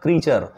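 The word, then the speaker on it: creature: पढ़ेंगे cash cache memory क्रिएचर actually उच्चारण होता है उसका क्रिएचर यहां रा पे जोर नहीं देंगे इसके लिए इसको पढ़ेंगे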